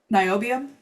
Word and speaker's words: niobium: And then lanthanum versus NB, whatever NB is, I always mispronounce it. niobium.